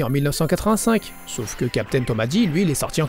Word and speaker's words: Captain Tomadi: Ensuite on a Captain Tomadi. Oui, ça se prononce Tomadi en japonais et pas Tomade.